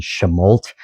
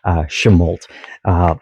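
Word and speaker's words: Chemult: And then the little town near there is called Chemolt, which again has the different pronunciation, with the last part being hyphen or pronounced harder, Chemolt.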